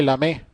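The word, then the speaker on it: Lamé: sería la constante constante se llama constante de la me así se llama este es acento es francés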